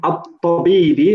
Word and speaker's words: الطبيب: But remember, the ta in at-tabibi, the ta is a sun letter, so we don't pronounce the lam.